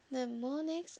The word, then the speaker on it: mnemonics: Mnemonics, the initial M is silent, are clues of any